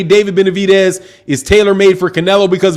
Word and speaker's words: Benavidez: david benedict you said benavidez right for non thank you brother i appreciate it you said it's pronounced like dead like dez bryant brian's name is dude it's a d it's not a t you see i don't